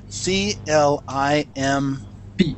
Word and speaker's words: climb: problem that's the problem c l i m b b is pronounced climb climb oh yeah no that's